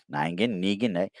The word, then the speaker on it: Negan: a ningan ningan here let me help you pronounce it again ningin ningan Negan it was funny though I enjoyed that whole